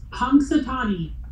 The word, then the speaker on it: Punxsutawney: say it, I can't say it, it's like Punxsutawney. Does anybody from Pennsylvania on the call can say it? Phil, the groundhog. It's Punxsutawney. Thank you. Punxsutawney.